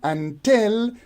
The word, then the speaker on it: until: a word until so you can see here that in until the first syllable is unstress while the second cable tell is stressed so here we have